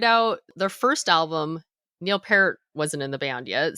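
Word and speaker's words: Peart: it, but it's pronounced parrot. Like the fruit. Yeah, like the fruit because it is P E A R.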